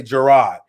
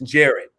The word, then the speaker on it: Jarrod: is it gary is jared jarrett jarrett i just i i do i i cause you know when we look when we see now if i see that i say gerard but it's jared you know i have